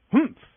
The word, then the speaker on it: hum: reading this story aloud please pronounce hum exactly as it is spelled for that is how he said it hum do you know until